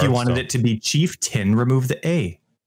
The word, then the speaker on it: chieftain: ascendency in my guide I would say chief tain because that's how I was spelt but it's actually chieftain and I feel like